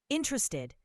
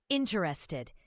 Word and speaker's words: interested: Interested. The first syllable is stressed. Interested. Say it clearly.